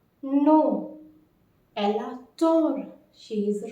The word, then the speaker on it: tort: So the exact opposite is avoir tort. Notice we are not like pronouncing this T, as T is a final consonant. So avoir tort, to be wrong.